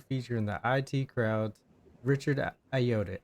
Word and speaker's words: Ayoade: the IT crowd's Richard Ayoade. How do you say his name? Iota. No, Ayoade.